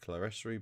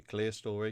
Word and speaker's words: clerestory: So you have the original sort of clear story, or some pronounce it clerestory, but it's actually clear story because it's the story clear of the main roof.